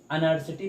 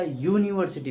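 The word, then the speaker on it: university: तो क्या बताइए जरा, हम इसको अनर्सिटी पढ़ते हैं कि या यूनिवर्सिटी पढ़ते हैं? अनर्सिटी तो पढ़ते नहीं भाई, कि अनर्सिटी कह दें, अनर्सिटी है कि नहीं, हम क्या पढ़ते हैं इसको यूनिवर्सिटी।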